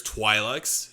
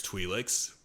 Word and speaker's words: Twi'lek: Twilight Twilight okay um there's like multiple ways you could pronounce twelix there's Twilights and there's twilix but uh from what I've heard that both of them are correct basically okay it's just to